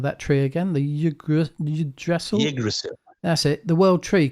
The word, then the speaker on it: Yggdrasil: Just this week, I uploaded a tweet saying that in Norse mythology, how did you pronounce the name of that tree again? The Yggdrasil? Yggdrasil.